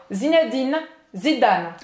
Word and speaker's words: Zinedine Zidane: É simplesmente para você terminar de pronunciar o N, porque imagina se você fosse pronunciar o N assim, Zinedine. Aí eu não terminei a pronúncia do N, né? Então tem que soltar a língua no final.